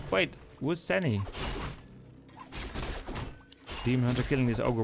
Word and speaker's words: Sini: You should read it like Sani, not Sini.